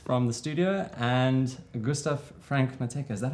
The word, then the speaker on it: Franke-Matthecka: So I'm very excited today to have Matthew Berti, aka Maddie Snaps, joining, Aidan Tobias from the studio, and Gustav Franke-Matthecka. Is that how I pronounce it?